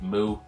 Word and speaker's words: MW: But basically, Mu, quite a strange name for a manga. It's spelled MW, but it's actually pronounced Mu.